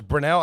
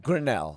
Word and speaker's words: Grinnell: Is Brunel? How do you say it? Brunel College? Grinnell. Grinnell.